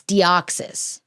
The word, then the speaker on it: Deoxys: Deoxys. Oops. Deoxys. It's It's spelled like dioxysis. And that's how I want to say it. Or is it It's Deoxys.